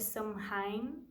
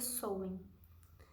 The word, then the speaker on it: Samhain: sobre o sol em escreve são raim mas a gente se pronuncia sou hein e o próximos a